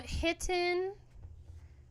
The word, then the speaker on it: Hitten: what girl um hiton literally spelled like kitten but with an H this is their album